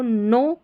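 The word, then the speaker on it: know: Extensive मतलब व्यापक के एन में के साइलेंट होता है। हमेशा ऐसे के एन एक साथ आता है स्टार्टिंग में। तो के साइलेंट रहता है। तो यह बन गया हमारा के एन ओ डब्ल्यू को नो पढ़ेंगे।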